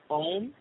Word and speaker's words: Om: You mean Om? O-M? Om? Yeah. I can spell that one.